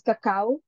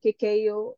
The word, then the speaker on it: cacao: in the Philippines so in our local dialect we actually pronounce it as Kaka rather than Kiko in a western region so from uh here